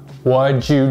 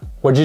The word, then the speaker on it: what'd you: You can just say, what'd you do? Of course, when you say it slow, it sounds a little weird, but when you say it naturally, what'd you do?